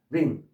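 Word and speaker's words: wring: 한 번 더 링 W는 발음이 안 돼서 반지를 나타내는 반지 끼는 반지를 나타내는 링하고 똑같은 발음인데 뜻은 빨래를 비틀다 또는 비틀어 짜다.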